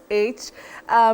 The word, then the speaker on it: flourish: Betty, the OU in that word function as a digraph. And when I talk about a digraph, that is a combination of two letters representing one sound.